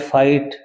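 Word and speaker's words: fight: ये लाइट है, लाइट फाइट, इसमें जीएच साइलेंट है।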